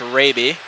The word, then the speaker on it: Raby: I believe that is pronounced Raby.